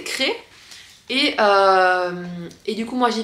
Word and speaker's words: Crest: On dit Cré, mais ça s'écrit C-R-E-S-T. Et moi, vu que je viens du sud-ouest, je prononce toutes les lettres que je vois. Mais non, c'est Cré.